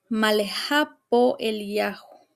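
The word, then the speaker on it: מה לך פה אליהו: En el original hebreo se pronunciaría malejapo elajo, que si lo leemos literalmente dice, "¿Qué para ti aquí Elías?"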